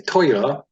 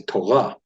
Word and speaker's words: Torah: And the Ashkenazic Jews tend to put the pronunciation on the first syllable. They would say Torah, and some would say Toira, depending on what part of Jewry you come from.